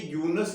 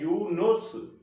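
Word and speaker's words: Yunus: वो इस तरह से है कि ये यूनुस नहीं है, ये लफ्ज है यूनुस जी। ये लफ्ज है यूनुस। और अगला लफ्ज जो है जिसे हम अच्छा, यूनुस को हम अंग्रेजी में इस तरह लिखते हैं, है ना?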